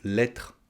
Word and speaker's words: lettre: Je vais t'aider pour ta lettre de motivation. On mange la dernière syllabe du mot « lettre ».